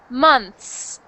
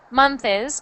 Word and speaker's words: months: When you said months, it's just one sound or sorry, one syllable. So, not month is months, but months.